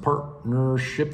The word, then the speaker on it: partnership: is is a general partnership pronounced partnership the T kind of disappears two or more people